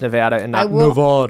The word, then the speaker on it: Nevada: you sincerely a lifelong Nevada I don't know how she's pronouncing it but it's Nevada I'm saying Nevada you like being wrong